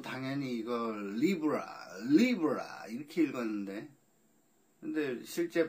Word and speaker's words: Libra: LIBRA 이렇게 써 있으니까 저는 또 당연히 이걸 Libra 이렇게 읽었는데 근데 실제 발음은 Libra 라는군요.